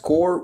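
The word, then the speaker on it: corps: uh of course yeah core pronounced core with PS silent okay thank you Tom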